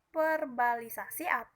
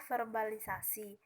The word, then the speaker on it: verbalisasi: dan yang ketiga ada kesalahan pengucapan perbalisasi yang sebenarnya E diucapkan adalah verbalisasi atau yang artinya adalah